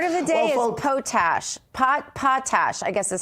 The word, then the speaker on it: potash: But I did learn that the proper pronunciation, I learned this in our YouTube chat from an audience member, is pronounced like potash. It's not potash. Potash made it sound like some sort of yummy potato-based food that I was going to get in Cajun land.